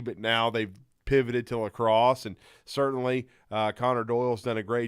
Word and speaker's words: lacrosse: in the sports business who called it Laceros, and I was like, well, I at least know how to pronounce it, lacrosse.